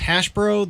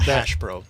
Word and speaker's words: Hasbro: And I think it was Hasbro that got the... Hasbro? Yeah, Hasbro. Not Hashbro.